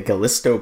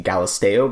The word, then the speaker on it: Galisteo: I call it the Galisto Basin when it is the Galisteo Basin, as well as Tyuonyi is actually Kuweni.